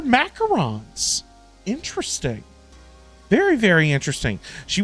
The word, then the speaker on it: macarons: Are they actually pronounced macarons? I thought they were macaroons. They're macarons.